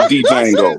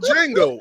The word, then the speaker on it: Django: The D is silent. I'm the one that called it Django. Jango.